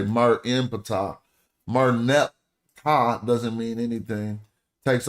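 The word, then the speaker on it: Ptah: And we don't even realize that the last person they talking about is Pata cuz this ain't Greek. So we do pronounce the P.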